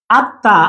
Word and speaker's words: আত্মা: এখানে যেহেতু চন্দ্রবিন্দু আছে, আত্মা, আত্মা বা আত্মার শব্দটা আমরা এভাবে লিখি, আত্মা শব্দটা আমরা এভাবে লিখি, কিন্তু আত্মার উচ্চারণ করি আমরা এভাবে, আত্মা। ম যেহেতু উচ্চারণ হবে না, চন্দ্রবিন্দু উচ্চারণ হবে।